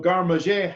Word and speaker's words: garde-manger: The meaning of garde-manger has changed over the years. Garde-manger, pronounced garde-manger, okay, with C-H-A-Y, is a French term that roughly translates to storing, keeping, protecting, to eat.